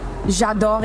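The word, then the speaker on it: J'adore: Jador EWC.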